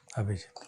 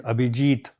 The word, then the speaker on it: Abhijeet: Abijit. Okay. But it is Abhijit.